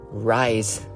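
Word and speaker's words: Ryze: Rise. It's spelled as R Y Z has been kind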